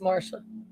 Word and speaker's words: Marcia: Spelled Marcia, but it's pronounced Marsha.